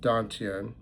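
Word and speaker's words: dantian: Let your breathing follow the rise and fall at the one point tantien, pronounced dontien.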